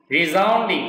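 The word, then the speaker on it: resounding: করছি, কি কামনা করছি, রিজাউন্ডিং উচ্চারণ কিন্তু বর্গীয় জয়ের মতো হবে, রিজাউন্ডিং সাকসেস, দারুণ সফলতা মানে প্রশ্ন অতীত, যেটা নিয়ে কোনো প্রশ্ন থাকবে না, এরকম সফলতা আমরা কামনা করছি।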